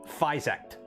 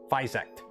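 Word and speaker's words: FYSETC: I asked them once, and they told me Physect. Physect is the pronoun.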